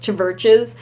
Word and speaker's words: Chvrches: It's like Churches, but with a V instead of a U. It's like Chvrches.